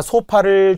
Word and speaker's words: 소파: 자, 소파를 종종 우리가 어디 홈쇼핑에서 보면 자꾸 쇼파라고 해요. 안 돼요. 진행자들도 다 잘못된 발음을 하더라고요. 쇼파가 아닙니다. 소파.